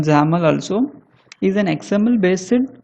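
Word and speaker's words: XAML: call as XML and we can pronounce it as anyone zaml also is an XML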